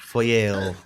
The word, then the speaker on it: Feuerbach: an hour to record a good take of Feuerbach, but it just sounds like I'm gagging because I can't do the German R sound. Feuerbach. Feuerbach. Feuerbach. Feuer. I like that. That's not As long real. as you pronounce the Oui, oui.